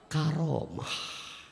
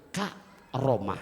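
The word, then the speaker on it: كرامة: Heeh Kaf maknanya apa karamah Tolong bacanya dilanjutkan jangan pakai koma jangan ka romah jangan ya takutnya kalau k romah takut ada yang jawab Ani jangan Karomah yuk baca bareng-bareng ya karamah Karah lagi Karah Iya Bunda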